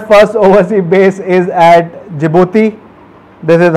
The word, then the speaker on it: Djibouti: So China's first overseas base is at Djibouti. This is how it is pronounced, and this is near the very famous Horn of Africa, where a lot of piracy happens.